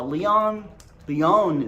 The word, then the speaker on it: León: Now León is how you pronounce it.